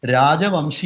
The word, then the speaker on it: രാജവംശി: അതിന്റെ മലയാളീകരിച്ച് ഞാൻത് പറഞ്ഞാൽ ആ വാക്ക് മലയാളത്തിൽ ഉച്ചരിക്കേണ്ടത് രാജവംശി എന്നാണ് രാജബൻസി എന്ന് ബംഗാളിയിൽ ബോൻസി എന്ന് പറയുന്നത് വംശി എന്നുള്ളത്ന്റെ ബംഗാളി ഉച്ചാരണമാണ് ഉച്ചാരണം അപ്പ ഈ ഈ ഒരു